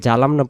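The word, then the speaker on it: ظلمنا: রব্বানা, না এগালিফ, রব্বানা জলামনা। জালামনা বললে এখানে জ অক্ষরটা জিম হতে পারে, কারণ জিম জবর যা, জ জবর জ, তাহলে এখানে আমরা জলাম না মানে জুলুম করেছি, মানে জুলুম করেছি এটা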